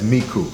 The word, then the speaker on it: Michoud: Actually, a place called, they pronounce it Michoud, but we know it as Miku.